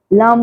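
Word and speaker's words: लं: कैसे बोलेंगे? श्वास भरेंगे लम।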